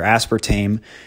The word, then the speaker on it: aspartame: It's probably either aspartame or sucralose.